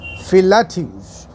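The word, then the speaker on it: Philautus: philadelphus p-h-i-l-a-u-t-u-s philadel's well i give the spelling because we don't know exactly what the pronunciation will be but us pronounce the name as fillative philadeles introduces well this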